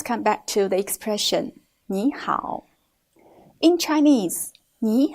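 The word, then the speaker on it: 你好: a look at these two characters and their pronunciations Nihao Nihao here it must be mentioned that in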